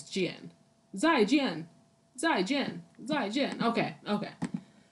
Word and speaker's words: 见: It's not Jen, it's Jian.